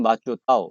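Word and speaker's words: 馬祖島: 중국 발음으로 진먼다오, 위에는 마추다오, 이렇게 되는데, 이게 중국 대륙 바로 옆에 있는데 타이완 영토입니다.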